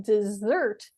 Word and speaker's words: dessert: tricky because the word desert and dessert are almost the same but dessert has two s's and it's stressed on the second syllable so we say dessert dessert whereas number one is Desert desert okay so who can